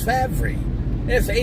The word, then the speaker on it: Favre: He doesn't spell his name Favre. It's Favre. Favre. How do you get Favre out of that? It's like the R should be before the V in order for it to be Favre.